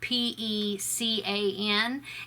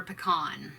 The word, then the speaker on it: pecan: Number 5 is, how do you pronounce the word that is spelled P.E.C.A.N, and we call that pecan, like pecan pie, or pecan ice cream, or butter pecan.